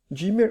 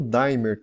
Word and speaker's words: dimmer: o check-in gamer né dimmer ou também conhecido como d'aimer também né depende muito da pronunciação de como o pessoal conhece esse circuito eletrônico tão fantástico tá